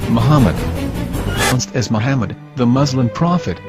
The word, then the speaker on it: Muhammad: Ben yehuda's Hebrew English dictionary it is correctly pronounced as Muhammad not mammad here is the famous sdl translation tool which